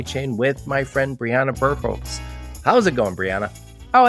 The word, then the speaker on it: Birkholz: So, Briana Birkholz, well done on the pronunciation, Joe.